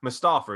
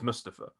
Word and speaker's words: Mustafa: say my name and she went mustafa he went no it's mustafa and apparently since then